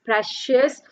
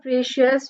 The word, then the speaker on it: precious: Then we have the next word, that is precious. So it's not precious, with the right pronunciation is precious.